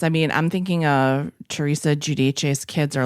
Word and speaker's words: Giudice: I mean, I'm thinking Teresa Giudice's kids are like the most memed, probably.